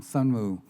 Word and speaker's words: Sunmu: Um, it's not a very common Korean name because, um, Sunmu, the last name is two syllables.